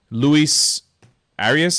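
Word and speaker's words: Luis Arraez: who I never considered Luis arias is how you say it from the twins yeah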